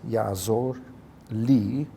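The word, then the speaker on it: יַעֲזָר־לִי: Versículo 7, Vadonai Yahweh, Yaazor li, por causa da linha Makef, então você tem é um Kamis Hatuf ali, né? Yaazor só com Cholem, mas com a Makef, para dar unidade, com li, então, pronuncia Yaazor li.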